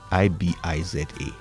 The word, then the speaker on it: Ibiza: Ibiza.